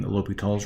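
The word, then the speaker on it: L'Hôpital: be learning about applying l'hopital's rule and i know it's a funny way to the word to pronounce that way that's uh that's the pronunciation l'hopital uh and their different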